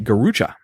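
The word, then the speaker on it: garrucha: of the ways to torture people was the gucha see if you can guess what a gucha was it's spelled g a r r u c h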